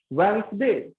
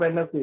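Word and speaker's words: Wednesday: Handsome, वेंसडे, नॉट वेडनेसडे, वेंसडे।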